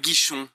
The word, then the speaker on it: Guichon: Bonjour, je m'appelle Guichon. এবার Paris. Guichon. বলতেছে je m'appelle গিশন, গিশন জি দিয়ে শুরু, হ্যাঁ জে গিশন, জি ইউ আই সি এইচ ও এন, je m'appelle গিশন, গিশন।